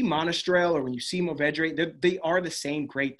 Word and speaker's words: Mourvèdre: Mourvèdre is how they pronounce it in Southern France.